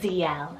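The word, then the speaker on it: Zielle: on the girl side i have the name zl it's about z-i-e-l-l-e l and this one means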